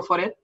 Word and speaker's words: Foret: Tengo mi página web que es, bueno, pues Foret, que es mi nombre, como se pronuncia aquí. es un nombre catalán y Foret es un apellido francés, pero yo lo castellanizo.